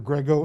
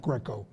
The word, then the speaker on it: Grego: of the board dr grego and staff by the way it's grego not greco sorry i went to